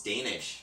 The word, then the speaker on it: Danish: It's Danish, like the pastry.